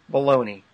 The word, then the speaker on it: Bologna: But it was demonstrated at the University of what we would pronounce baloney. The university. Yeah, I spotted that. I wasn't going to mention that, but I'm glad you did. I'm not sure how they would pronounce it in Italy. Bologna, is that it?